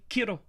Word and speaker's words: Kiro: But then we found out it's a Japanese word, so we're like, has to be Kiro from now. That's how I'm going to pronounce it.